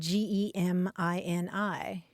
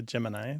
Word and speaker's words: Gemini: may be surprised at the way that they pronounce the name of the Space Program the one that spelled GE m i n i how do you say it most people say